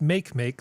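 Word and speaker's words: Makemake: this other one called which I guess is pronounced make make that's what people call it uh is another one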